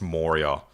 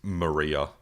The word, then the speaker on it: Moria: I'm not very excited for the fact that you pronounced Moria as Maria.